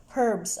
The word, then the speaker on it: herbs: Another variety of lettuce, some herbs actually in the UK with the H pronounced.